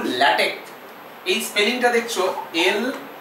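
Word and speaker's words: LaTeX: সময় পড়বো সি তাহলে পড়ার সময় কি পড়বো ল্যাটেক আরো ভালো হয় যদি কে পড়ো আরো ভালো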